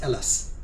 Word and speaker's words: Hellas: It looks like the letter H, but it's pronounced Hellas.